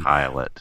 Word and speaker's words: Pilate: be helpful, it's pronounced, and there's a little pronunciation key. Pilate, yeah.